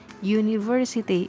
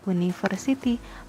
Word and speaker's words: university: huruf u6 University ini cara bacanya adalah University bukan University maka karena depannya huruf y jadinya University kita harus pakai